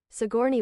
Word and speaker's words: Sigourney: How to pronounce Sigourney Weaver. I had to close it down. Sigourney Weaver.